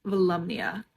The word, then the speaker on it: Volumnia: Apparently this is pronounced Volumnia.